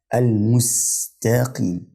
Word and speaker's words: المستقيم: كده كده المستقيم المستقيم حرف السين هنا ده برضو من المواضع اللي كتير بيغلط فيها بيقلبه قصاد بيقول نص مستقيم مستقيم هو والتاء اللي بعديه بينطق السين صاد وبنت او بين مستقيم فالتراب بتاعتها صح او القراءه بتاعتها صح هي المستقيم يعني لو قلبتي او